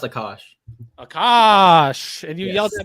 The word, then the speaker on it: Akash: It's it's pronounced Akash.